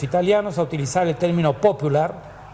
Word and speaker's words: popular: a utilizar el término popular, con el acento en la O, como el vocablo inglés, para nombrar a la